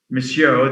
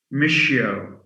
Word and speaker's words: monsieur: and and some british we have a problem with saying monsieur they say michio the same issue why